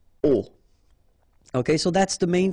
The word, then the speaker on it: aux: at all, and then a plus les will become o, AUX, but then remember that phonetically it's o.